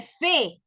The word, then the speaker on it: fais: Porque a pesar de que se escriben diferente, sabemos que la S y la T no tienen pronunciación al final de la palabra. Por lo tanto, los tres se pronuncian igual.